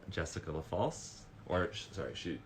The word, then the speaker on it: Lafalce: All right, I'm going to bring on the call Jessica Lafalce, or sorry, she also said I can pronounce it the Italian way, which is Jessica Lafalce.